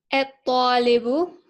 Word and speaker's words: الطالب: الطالب. Well, why didn't you pronounce the lam? Well, I know to do that because it has a shed down the ta. And so I skipped the lam entirely.